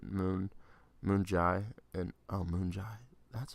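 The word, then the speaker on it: Moon Jae-in: kim and president moon moon Jai and I'll moonshine that's how you say his name okay okay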